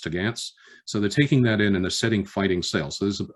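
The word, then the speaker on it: topgallants: sails, the upper sails, which are spelled top gallants, but pronounced tagantz.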